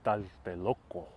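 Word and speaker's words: Tlatelolco: actually pronounce those words so today the tl sounds it's like a sound but uh back then it was a sh sound i'd rather read about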